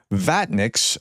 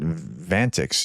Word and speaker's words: Vatniks: Vatniks, I pronounced it Vantix yesterday, I think.